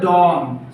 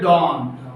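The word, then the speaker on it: dawn: बाद है डाउन डाउन एक होता है डॉन सुबह को बोलते हैं डॉन उसकी स्पेलिंग आती है डी ए डब्लू एन डॉन एट डॉन बिल्कुल सुबह सवेरे फ जैसे तुल आफताब होता है ना उसके बाद फौरन डॉन ये है डाउन डाउन नीचे डाउन उसके बाद ड्यूरिंग ड्यूरिंग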